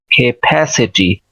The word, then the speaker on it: capacity: इसको भी देख लें, इसको पढ़ेंगे शवा के साथ है का की साउंड, CAPACITY। तो इसको कैसे प्रोनाउंस करेंगे, के, और आगे स्ट्रेस के साथ सिलेबल है फा और ए, फै, सा और ए, से, फै से, ता और ई, टी, फैसिटी, खे, कैपेसिटी, कैपेसिटी, कैपेसिटी, कैपेसिटी, कैपेसिटी, इस तरह